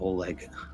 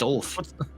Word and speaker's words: Ulf: It ain't Oleg. What? It's Ulf. It's Ulf? I've been saying it wrong the whole time.